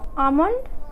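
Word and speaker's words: almond: एल आता है तो एल हम लोगों का साइलेंट होता है। चलिए देख लेते हैं मीनिंग। जैसे टॉक, हाफ, आमंड, वुड।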